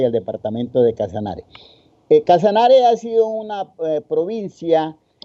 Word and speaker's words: Casanare: Casanare significa, inicialmente el vocablo se pronunciaba Casanari, pero en el contexto, en la pronunciación durante muchos años, se dificultaba más pronunciar Casanari que Casanare, por lo que la vocal E es más abierta. Y entonces la gente empezó a pronunciar Casanare.